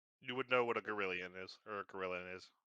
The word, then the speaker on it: Girallon: You would know what a Gorillion is, or a Gorillion is. Yeah. You guys Pronounced Gorillion.